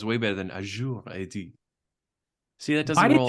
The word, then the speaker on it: Azure: assume that it's going to ingest data from Azure or Azure, however you pronounce it where you live. Mark, how do you pronounce it? I don't Azure.